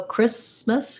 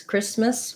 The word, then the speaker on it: Christmas: don't say christmas so the t is silent the h is silent and the a is more of an uh or an e sound um first syllable stress